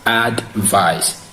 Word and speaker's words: advice: Now, advice is stressed in the first syllable. Advice is stressed in the first syllable. What does that mean? It means it must be pronounced as advice. There are two syllables in advice, ad and vice. So the stress is on the first syllable, which is advice.